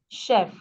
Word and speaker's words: chef: French in some words in French when they use CH it is still pronounced as sh in English likef Chef okay in French they still say Chef all right so meanwhile